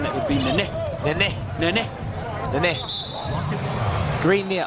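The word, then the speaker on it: Nenê: Now, if you're wondering on pronunciation, that would be Nene.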